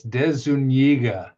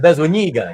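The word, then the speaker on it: De Zuñiga: It's De Zuniga. Yes, it's De Zuniga. Yes, exactly. With an NY.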